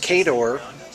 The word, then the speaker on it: Khador: fortunately for me uh kador by the way and that's how I was saying it and that's how you say it in the book but I was wrong